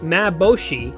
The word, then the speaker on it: MaBoShi: actually makes sense why it's called mAb boshi because it's my robo shikaku it's the first syllable of each of those words and that translates by